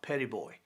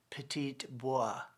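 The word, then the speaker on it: Petit Bois: is the island is uh locally it's called petty boy and but the person reading the book pronounced it petite boi and they passed the island of petite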